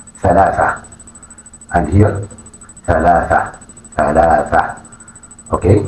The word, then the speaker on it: ثلاثة: But in Arabic ثلاثة ثلاثة ثلاثة.